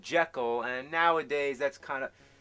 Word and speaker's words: Jekyll: Lately, You know even that though the this proper is pronunciation 2010. is Jekyll?